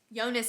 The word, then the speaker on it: Jonas: On Yona or yonas yonas apparently how you say his name it's spelled like Jonas but the audio book says yonas anyway I don't like